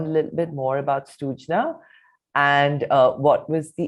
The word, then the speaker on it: Srujna: you know learn a little bit more about sujna and uh what was the impetus for this project also if i'm mispronouncing it please correct me now no no